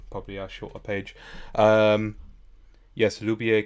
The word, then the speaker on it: lubię: Yes, lubię can be pronounced with e. Yeah, okay. So it feels like when the word ends with that ow, it's Lubię. just like a normal a essentially.